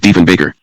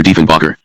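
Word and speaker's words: Diefenbaker: Everyone, that is, but Deven Baker. Then Kennedy mispronounced Deven Baker's name. The baker was as in a baker of bread. Kennedy referred to Prime Minister Deanbacher.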